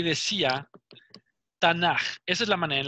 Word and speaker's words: Tanaj: la que se pronuncia, se escribe T-A-N-A-J. Tanaj, pero se pronuncia el AKH, es como j, hace un sonido de j, ¿ok? Por eso se lee Tanaj.